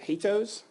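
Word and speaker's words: HATEOAS: no official pronunciation for I'm going to go with hatos um I kind of think it's like Cheerios only hateful um hyper media as the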